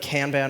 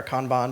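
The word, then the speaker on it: kanban: And we throw a little bit of canban on there or conbon depending on how you pronounce it to to make it look pretty.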